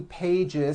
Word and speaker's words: pages: pages it's not two pages S unvoiced no it's two pages with a voiced Z even though you spell